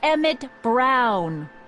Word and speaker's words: Emmett Brown: bill to a tee that's Emmett Brown rhymes with clown which I'm beginning to